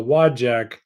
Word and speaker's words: Dowagiac: It was a challenge to learn how to spell how to pronounce the Wajak, Dowagiac, Michigan.